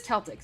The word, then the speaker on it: Celtic: And Patricia said I didn't say it right before, so I need to say it this way, but it is Celtic.